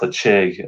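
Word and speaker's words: Ledaig: kind of equivalent to Tobermory has the cheek led AIG this pronounced let's shake that's their repeated version of their whiskey so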